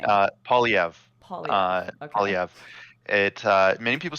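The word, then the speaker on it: Poilievre: Yeah, many people say he is And how do you pronounce French. his last name? Polyev.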